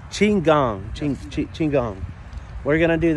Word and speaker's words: Qigong: Because I pronounce it wrong all the time. What we're doing. The Qigong. Qigong. Qigong.